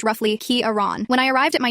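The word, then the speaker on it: Ciarán: for about a year my given name is Kiran yes it's spelled with a c and a f over the A and yes it's pronounced roughly kearon when I arrived at my new high school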